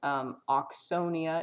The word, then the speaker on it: Auxsonia: Oh no, it's Auxsonia. It's spelled AUX.